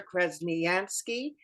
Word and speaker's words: Krasniansky: guest today and it's krasnyansky I hope I pronounced it right yeah that's my name and and I